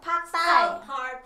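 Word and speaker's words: ปักษ์ใต้: Pak Thai.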